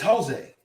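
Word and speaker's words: José: But in pronunciation, there is not. So what looks like Javier is Javier. What looks like Jose is Jose. What looks like Jesus is Jesus.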